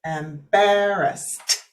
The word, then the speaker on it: embarrassed: about the pronunciation activity embarrassed embarrassed and it has that t sound because of the s there and that's what turns that into the t sound there at the end um wonderful and does